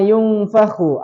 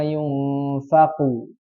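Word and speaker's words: يُنفَخُ: Nah, memang pengucapan kho ini hampir mendekati makhraj huruf ko. Jadi diperhatikan di situ. Kalau kho itu harus ada aliran dan kotor. Ko tidak. Jadi jangan dibaca yauma yunfaqu.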